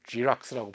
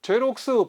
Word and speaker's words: 제록스: 물론 영어를 지락스라고 번역하지만 발음하지만 그래서 이제 복사기 달라고 그러지 않고 제록스 복사기.